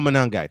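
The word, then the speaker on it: Monangai: I can't pronounce the fellow's name. Kyle Manangai.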